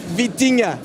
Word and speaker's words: Vitinha: Vitinha? Uh it's Vitinha.